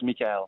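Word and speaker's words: Michel: Michael is good for English people, but in French it's Mikuel.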